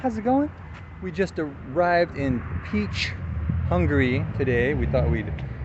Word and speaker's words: Pécs: trip but yeah we're we're in Peach uh which is doesn't really spell that way but whatever that's that's that's how you pronounce it in Hungarian and we're about to